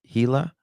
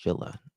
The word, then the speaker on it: Gila: It's pronounced Gila. I always thought it's pronounced Gilla.